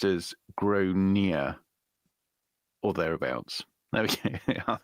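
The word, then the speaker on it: Gráinne: Generally pronounced Gronia. Gronia.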